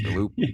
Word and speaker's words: Galluppi: My name is spelt like it looks like Galluppi, so I totally get it. Um Here's the thing, like I was actually struggling. I was like, okay, make sure that you ask him how to say his last name properly, Galoopi.